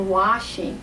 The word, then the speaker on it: washing: other word when you're washing because it's the SH sound washing I want to say